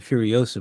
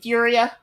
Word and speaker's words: Furiosa: You mean Furia? Furia? You said Oh, is that Furiosa.